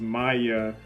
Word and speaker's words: Maya: The other one is Maya, rhymes with fire, because she has a gun.